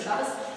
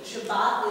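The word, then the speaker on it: שבת: And you can see the strong influence of the Ashkenaz pronunciation. Shabbat is with the Tav going to an S sound, and the accent is on the first syllable, not the last syllable.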